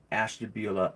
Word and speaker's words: Ashtabula: I live in Ashtabula, Ohio.